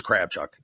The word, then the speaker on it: Kravchuk: I think it's Kravchuk.